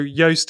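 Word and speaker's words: Joost: i don't know if i've said have i pronounced that right juiced or is it yoast oh okay so yoast is the pronunciation so yoast.blog but it's not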